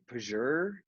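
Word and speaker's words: Pjur: maybe you guys have seen it spelled p j u r i think so uh i think it's pronounced like pager um which is coincidentally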